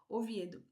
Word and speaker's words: Oviedo: Oviedo, eu vou colocar o nome certo aqui que eu pronunciei errado. Oviedo.